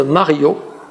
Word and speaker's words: Mario: Alors j'attendais quelqu'un, un homme, une femme, j'attendais Mario, à prononcer la française Mario, à l'entrée de la galerie Rive Gauche.